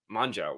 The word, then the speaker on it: Mongeau: Mongeau.